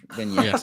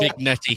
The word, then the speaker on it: vignette: Oh, is that how you pronounce it? Vignette. I never knew. What do you call it? Saying Vignette. I don't know what I thought. Vignetti.